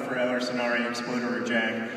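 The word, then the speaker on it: Förr eller senare exploderar jag: That is the title of the Swedish version of The Fault in Our Stars, and it is pronounced for Eller Sonare Explorer Job!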